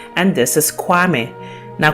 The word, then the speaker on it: Kwame: Now, most of us also know that God himself also has a day name, and this is Kwame. Now, Kwame is actually derived from Koyame, with the following syllables Ko, Ya, Me.